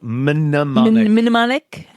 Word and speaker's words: mnemonic: Pronounced mnemonic.